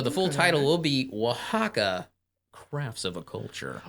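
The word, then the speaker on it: Oaxaca: crafts of a culture also just in case you're going to Google it it is spelled like o x a cxa or some weird ass oax it's spelled like oax yeah if you want if you want to know how to spell it go to your supermarket and look for w Haw and cheese it start it starts with an O it doesn't start with a W right and it's a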